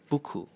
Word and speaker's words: buku: For example in English the word too—so "ooh". In Malay it is the word buku which means book.